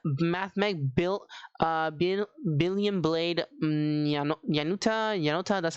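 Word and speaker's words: Nayuta: Now for the 1-ups, we're playing with the 1 Mathmech Billion Blade Yanuta.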